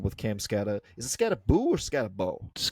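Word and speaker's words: Skattebo: Is it Scataboo or Scatabau? Scataboo. I believe it that's pronounced Scataboo, but it's spelled Scatabau.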